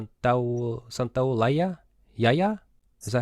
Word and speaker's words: Santaolalla: Santaolalla? Yaya? Is that how you say it? Santolaya.